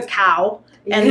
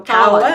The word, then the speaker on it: Cowan: Think of a cow and then Ann. So Cowan.